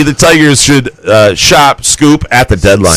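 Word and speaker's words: Skubal: 3, the Tigers should shop Scoop at the deadline. Scoop. It's Scoop. Well, he does misspell his name.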